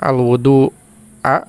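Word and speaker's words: الوَضوء: Jika dibaca dengan fathah, al-wudu'a, mungkin ya maksudnya ini al-wudu'a karena fathah, artinya ialah air untuk berwudu.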